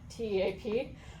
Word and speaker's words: TEAP: It's pronounced TEAP? TEAP, yeah.